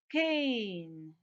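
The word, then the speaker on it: cane: ah can short vowel what happens when i add silent e at the end i get c v c e pattern so the silent e here tells that preceding vowel to say its name the name of this vowel is a so what does it become kane and the picture okay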